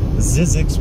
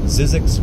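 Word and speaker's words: Zzyzx: Zizix Road. It's spelled, I believe, Z-Z, as in zebra, zebra, Y, as in Yankee. Z as in zebra again. X as in X-ray. Zizix Road.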